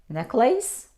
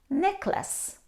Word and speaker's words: necklace: of cotton silk but how do you pronounce this word necklace no we pronounce necklace necklace she was wearing